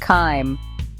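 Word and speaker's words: chyme: The stomach's muscles act like a powerful mixer, churning the solid food and breaking it down into a creamy semi-liquid paste called kim, pronounced kim.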